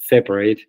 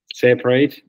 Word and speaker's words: separate: apart Okay notice that separate the verb the verb and separate the adjective have different pronunciation separate separate Okay aquí el énfasis es en la r y aquí el énfasis es en la s separate separate Okay aquí